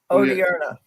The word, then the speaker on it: Odierna: Odierna.